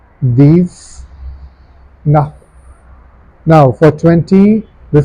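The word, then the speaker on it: dix-neuf: So it becomes these nuff. These nuff.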